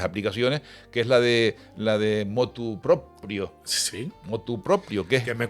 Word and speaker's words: motu proprio: Entonces, lo normal, en la palabra, la locución motu proprio, se suele, pues bien, adaptar al español y se dice motu propio.